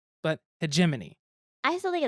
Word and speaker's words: hegemony: But I've heard it several different ways, never knew how it was pronounced, and it's hegemony.